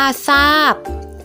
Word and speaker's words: ทราบ: เสียง พยัญชนะ อื่น คือ โทร ควบ กับ รอ ออก เสียง เป็น ซอ เช่น ทราบ อ่าน ว่า ทราบ และ ทรง อ่าน ว่า